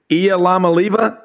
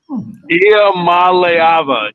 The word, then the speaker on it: Iamaleava: Say his name one more time because I have Matt and Bo and I, it's Nico Iamaliava. Nope. Iamaleava. Iamaleava.